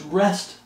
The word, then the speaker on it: wrest: It's not wrestle, it's rest the scriptures to their own destruction.